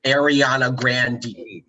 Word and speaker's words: Ariana Grande: Her name is Ariana Grande. That's how you pronounce her name. Ariana Grande. But she does not correct people when people say Ariana Grande. Like she purposefully ignores the fact that people are pronouncing her name wrong, which the mispronunciation of